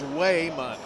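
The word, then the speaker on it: Wymon: pronounce Raymond yeah but his name is wayon w y m o n Wayman West I'm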